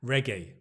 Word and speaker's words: reggae: he absolutely absolutely okay reggae reg reg reg stress on the first word Reg it's not a a ra sorry it's a re reg okay number three here we